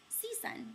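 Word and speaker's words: CSUN: California State University Northridge SE Sun that's how we like to pronounce it there um where is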